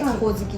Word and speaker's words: 鬼灯: そうなんです、鬼の灯火と書いてほおずきと読むらしいん